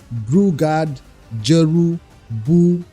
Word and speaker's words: Brewguard Jeroboam: name is bugard jerob they did pronounce it for us say brard jeru buom that's how they say it should be pronounced so get it right